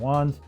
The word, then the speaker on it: onn: to listen to different ones and i settled on this budget one that's right at 50 that's called on i guess that's how you pronounce it's onn and this is the size